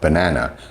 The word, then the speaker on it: banana: But even at very, very low levels, like the example I gave earlier with banana, there's an example of na being stressed, banana.